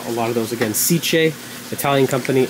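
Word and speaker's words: SICCE: kicking and then a lot of those again siche Italian company s i CCE but it's pronounced c not siki sich like silio like my familia where they're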